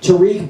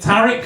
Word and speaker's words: Tariq: ] have him because I pronounce it Tariq uh Tariq not Tariq uh because I'm from a civilized country called the UK um you know the